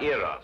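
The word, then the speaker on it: Eros: well what about the heroes with a broken feet a slight confusion on the ladies part probably the influence of cockney stagehands she added an h where there shouldn't have been one what then spell it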